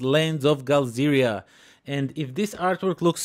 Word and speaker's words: Galzyr: Now, it is spelled GALZYR like this, and for some strange reason, I keep pronouncing it GALZYRIA like this, which is wrong.